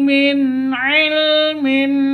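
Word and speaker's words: مِنْ عِلْمٍ: karena izhar halqi ya nun mati bertemu dengan ain izhar halqi tidak boleh sentak tidak boleh didengungkan bacanya min ilmin min ilmin seperti itu.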